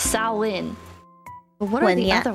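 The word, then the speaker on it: Samhain: you pronounce these cuz I heard Sam Hayne at the bottom is actually pronounced sain but what are the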